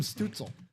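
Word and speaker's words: Stützle: His last name kind of rhymes with Strudel. With what? With Strudel. No, Tim Stutzel.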